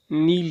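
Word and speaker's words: kneel: नील झुकना, झुकने को अंग्रेजी में नील कहते हैं। नील, इसमें एक है साइलेंट है नील।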